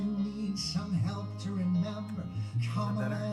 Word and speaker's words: Kamala: left her chamber, Beirut exploded, redwoods were embers, and if you need some help to remember, Kamala is how it's pronounced.